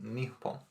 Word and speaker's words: Nippon: It's actually pronounced Nippon. Is it? Yeah, Japan is the anglicised version of it.